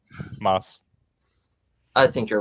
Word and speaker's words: Mads: I like Well, I like I like Mads Mickelson in it. Or was it? Yeah, it was mad, right? No. And you're pronouncing his name wrong. Just stop. How do you pronounce it? Moss.